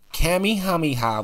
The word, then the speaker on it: Kamehameha: His name is Kamehameha. Kamehameha was the founder and first ruler of the Kingdom of Hawaii.